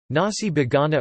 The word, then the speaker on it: nasi bogana: Nasi bogana or nasi bogana, pronounced as na-si bogana, is an Indonesian-style rice dish, originally from Tegal, Central Java.